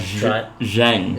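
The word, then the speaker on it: Xeng: Jen blend if you'd like to try it Jen it's spelled x e n g I believe it's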